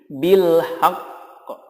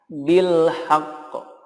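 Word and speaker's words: بالحق: kemudian baru disukunkan contohnya jika wakaf menjadi bilhaq bilhaq ada tekanan dulu ya kemudian di qolqolah kan selanjutnya minhunna nah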